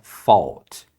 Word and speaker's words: fault: it was my fault essa palavra aqui você pronuncia esse a como um o Então é fault isso significa foi minha